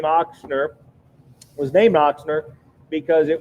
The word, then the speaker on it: Ochsner: name oxner um and in German it's it's Sprout with a or pronounced with a big Ox Ochsner is uh you know means German for for ox and um here's here's